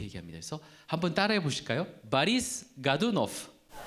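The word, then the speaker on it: Борис: 영어식으로는 보리스라고 읽지만 이게 이제 바리스라고 합니다. 강세가 I에 있기 때문에 바리스 해서 앞에가 O가 아가 되는 현상을 아까니의 현상이라고 합니다.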